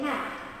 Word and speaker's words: half: That one is famous too, not pronounced before the L, D, F, M, and K. So I say half. It will take me half an hour.